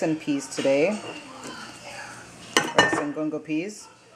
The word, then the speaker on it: gungo: Rice and gungo peas. Congo peas on there, what we pronounce it gungo peas.